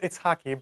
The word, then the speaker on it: Itshaki: Am I saying your name right? Itshaki? It's pronounced Itshaki, but it's totally fine.